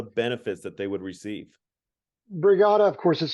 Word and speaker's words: Brigada: that they would receive brigada of course is spelled b-r-i-g-a-d-a kind of rhymes with the word Regatta like a race on a river uh brigada it's a